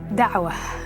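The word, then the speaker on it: Da'wah: Dawa is the way it's pronounced and what it means is to plead or to call non-Muslims to Islam.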